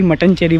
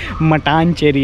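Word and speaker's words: മട്ടാഞ്ചേരി: मैं इसे मटन चेरी कह रहा था। लोग हंस रहे थे। यह मटन चेरी नहीं है। यह मट्टनचेरी है।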